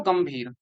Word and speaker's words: गंभीर: तो इस अंकी बिंदी का उच्चारण में किया जाएगा। यानी आधा। तो शब्द क्या बोलेंगे हम इसको? गंभीर।